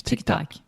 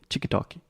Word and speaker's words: TikTok: in Portuguese Tick Tock how do you say tiktok much more difficult chikitaki it's not just adding extra sounds everywhere tick tock Tick Tock yes so here tick tock Tick Tock yeah so an interesting thing in the talk Tick Tock ah yeah that's like a an ah sound just like product yeah tick tock tick